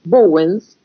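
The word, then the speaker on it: Bauwens: Y ahí cita un autor inglés, que es Michael Bowens, que se escribe Bowens, B larga A-U-W-E-N-S, Bowens.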